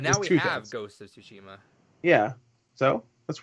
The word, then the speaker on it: Tsushima: No, I said it right. I said the title right. That's how you pronounce the title. Ghost of Tsushima.